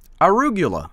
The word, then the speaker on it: arugula: It is called arugula. Arugula sounds like Dracula.